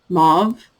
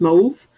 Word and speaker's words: mauve: very dark taupe I every time I hear somebody say the word mauve in English I cringe because in French it's mauve so that's how I tend to pronounce it even in English and I always cringe when I hear somebody say mauve it's just that's not how you say that I mean it is but